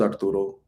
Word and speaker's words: Arturo: So my name is Arturo, but if you don't know how to roll R's, just stick to Art, ART, one syllable.